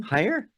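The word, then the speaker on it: Heyer: How do you spell that last name? Hire.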